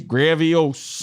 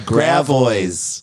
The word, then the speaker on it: Gravois: How do you pronounce it? That's French. Gravois. That's Gravois. What do you think it should be? Gravios. Nope. It's called Gravois.